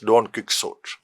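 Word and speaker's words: Don Quixote: of cervantes don't sort i know that the spanish pronunciation is not don't quick sort something different but that work is known in kerala as don't kick sword so marquis considers music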